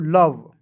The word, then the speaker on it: love: ठीक है ना, देखना है, यदि किसी भी वर्ड्स की मतलब किसी भी वर्ड्स के तुरंत बाद ओ आएगा और उसके बाद कोई कॉन्सोनेंट होगा और अंतिम में ई आएगा, तो ये जो है दोनों का उच्चारण नहीं करते हैं।